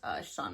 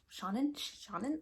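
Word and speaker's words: Seanan: lot of good things about Sean McGuire. Shannon, I think I've been saying her name wrong.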